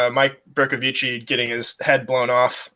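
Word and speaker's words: Bercovici: It is pronounced Berkovici, though. A lot of people can't say his name. A lot of people are scared to say his name, and I don't think I heard a single announcer in the AAF say his name correctly the entire season, which is another reason maybe they closed the league down. Not that many people can roll their R's, so we got Coach Petey's.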